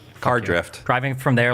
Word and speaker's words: Cardiff: Cadreef. Driving from Cardiff. It's pronounced Cadriff. It's not. Cardrift.